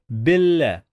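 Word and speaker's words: بالله: The first letter is B, and then we have alif, then we have lam. Remember that we are not gonna pronounce this lam.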